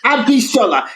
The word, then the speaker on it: Abishola: And the Yoruba names are also very phonetic, so they're easy to just read the letters to pronounce the names. No weird throat sounds, no GB, there's no, it's just Abishola. It sounds exactly how it's spelled.